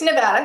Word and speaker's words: Nevada: It's Nevada.